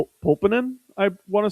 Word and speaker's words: Pulkkinen: I think it's Pulkkinen or something like that.